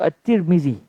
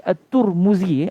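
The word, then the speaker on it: الترمذي: Dan boleh juga baca Tirmizi. Tirmizi. Kalau di Mesir biasanya disebut At-Tirmizi. Guru-guru kami biasa sebut At-Tirmizi. Cuma di Malaysia kita biasa dengar At-Tirmizi, dan itu juga betul cara bacanya. Dan ada satu lagi At-Turmuzi, At-Turmuzi.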